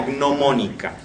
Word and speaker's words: gnomónica: Eso es lo que él llama, en este libro noveno, él lo llama de la gnomónica, ¿sí? Gnomónica se escribe con G adelante, GN, viene de gnomon, y básicamente los gnomon eran todas aquellas cosas que servían para medir cuestiones astrológicas, ¿sí?